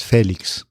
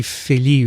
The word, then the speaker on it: Félix: feli Felix it's a my name is Spanish so it's Felix Felix with a little accent but if it were French it would be Philly right it's Felix Felix they pronounce the X Felix the x is pronounced okay welcome I'm sure